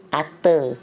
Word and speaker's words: ate: Nah, untuk kata kerja bentuk kedua dia berubah, tulisannya bukan eat lagi tapi ate, dibacanya at. Awal kata kerja 1 eat, yang kedua at, ketiga eaten artinya makan.